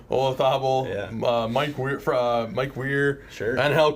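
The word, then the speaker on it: Olazábal: Olazabal.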